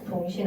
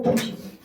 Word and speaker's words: 부신: 잘못 발음해서 붕신이라고 하면 안 돼요. 붕신 아니고 부신.